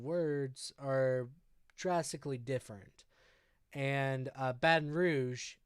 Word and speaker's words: Baton Rouge: And Baton Rouge is a perfect example of the GE sound making a sh sound, right?